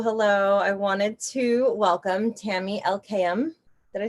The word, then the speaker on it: Tami Elkayam: relationships hello hello i wanted to welcome tammy elkayam did i say it right yes you did